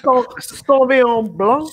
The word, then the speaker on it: Sauvignon Blanc: Hey, man, I got a little Sauvignon Blanc. Sauvignon Blanc? You got to say it like that. Sauvignon Blanc.